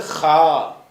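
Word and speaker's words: خ: இது ஹா இ காரி துப்புவோம்ல அந்த சவுண்டு இது ஹ இப்படியான ஒரு சொல்லு நம்ம தமிழ் மொழி எல்லாம் கிடையாது. அரபில இருக்கிறது. தமிழ் மொழியில இதுக்கு ஈக்குவலா சொல்லு கிடையாது. வேற பாஷையில இருக்கற மாதிரி தெரியல. இந்த ஹன்ு சொல்வது வந்து அரபில தான் இருக்கிறது அரபி சொற்கள்ல தான் வரும். அதனால இந்த ஹங்கிறது நமக்கு தமிழுக்கு உள்ள அரபிக்கே உள்ள தனி உச்சரிப்பு. இந்த ஹங்கிறது என்ன வித்தியாசம் என்று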